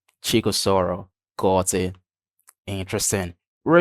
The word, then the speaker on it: Chikaosoro: I've got Chico Osoro. Did I get the pronunciation right? Yeah, you tried. It's Oh, Chikosoro. Chico Soro.